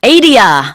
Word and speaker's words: Adia: I don't know how to pronounce this song. Adia. Adia.